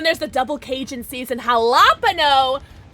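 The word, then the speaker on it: jalapeño: I like to pronounce the J. Yeah, jalapeno.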